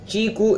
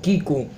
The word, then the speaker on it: Qiku: brought to You by chiku company q i KU U we pronounce it chiku instead of Kiku so chiku company which